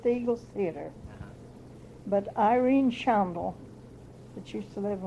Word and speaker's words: Shondle: But Irene Shandel, that used to live in Wabash, How do you spell it? was the Shandel, Yes. How do you know how to spell the last name? Shondle, S-H-O-N-D-L-E.